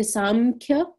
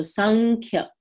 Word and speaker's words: Samkhya: Now here it's spelled with an M to denote that Anuswar concept. So some people will say Samkhya, but generally if that Anuswar is followed by a K, we make it a NK, kind of when we pronounce it.